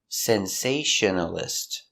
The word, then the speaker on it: sensationalist: Sensationalist. Sensationalist. Five syllables. Sensationalist. Stress is on the second syllable.